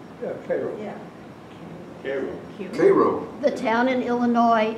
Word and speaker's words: Cairo: is pronounced Koo is pronounced VI Koo is pronounced Caro yeah caroo Koo the town in Illinois is pronounced Caro